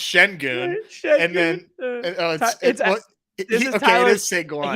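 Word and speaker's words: Şengün: Well, first off, the other Sengun is actually pronounced Shengun.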